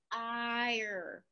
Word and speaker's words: fire: Okay, so we have the word fire, fire, the E is silent.